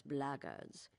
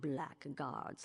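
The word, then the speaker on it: blackguards: another one of those blackards and that that's the way to pronounce it not black guards like that Thug insisted it was then my answer is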